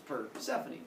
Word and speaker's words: Persephone: like Persephone, but without the T, so it's Persephone. And he kidnaps Persephone, and things go well, except that apparently Persephone's mom misses her.